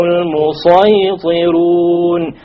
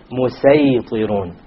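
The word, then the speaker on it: المصيطرون: It is better to pronounce it as a sad. Okay, and that is why the sin has been placed below the sad, unlike in the case of Surah Baqarah and Surah A'raf, where the sin was above it. Okay, so we pronounce this as أَمْ عِنْدَهُمْ خَزَائِنُ رَبِّكَ أَمْ هُمُ الْمُصَيْطِرُونَ أَمْ هُمُ الْمُصَيْطِرُونَ. And we're allowed to, but it is not preferred to say مُسَيْطِرُونَ.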